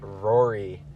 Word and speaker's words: Ruairi: the shotgun seat yep uh my name is Rory I play in the witness how do you spell that which which part Rory R u a